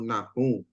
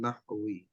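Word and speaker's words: نحو: Sering banyak orang bilang sebutnya ilmu nahu gitu ya. Tapi kita bacanya ilmu nahwi.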